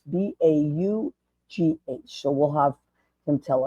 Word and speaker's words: Braugh: Gavin, I think it's Bo. I had to get the right pronunciation. It's Baugh.